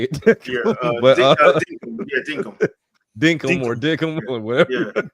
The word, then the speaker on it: Dinkum: If you were into the farming lifestyle, Animal Crossing type situation with Dickum. I think that's how you say it. Dinkum.